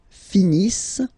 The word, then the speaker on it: finissent: Ils finissent. So remember, as usual, when we get the verbs and T not pronounced.